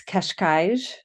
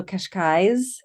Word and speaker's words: Cascais: I think technically it's Cascais with two Mm-hmm. zhuzhes. I hear also Cascais with more Mm-hmm. of a Z kind of ending.